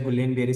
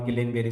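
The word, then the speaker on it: Guillain-Barré: reflexes GB refers to G Barry syndrome the name of the disease is G Barry syndrome you can pronounce it indianized way as Gul ber syndrome or gain ber syndrome no it is symmetrical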